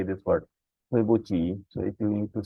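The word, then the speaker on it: 对不起: This Q is CH in Chinese. This will not be pronounced as a C as a Q. Okay, this is not Tuebuki. This is Tuebuchi.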